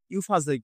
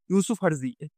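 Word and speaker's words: Yousafzai: এটা হবে আমাদের মালালা ইউফাজে বা আমি এটাকে উচ্চারণ করি ইউসুফ আরজি এভাবে তোমরা মনে রাখতে পারো যে মালালা ইউসুফ আরজি ঠিক আছে এনার সম্পর্কে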